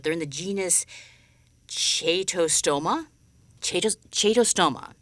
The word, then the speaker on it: Chaetostoma: Chaetostoma. As far as I know, that is how you say it.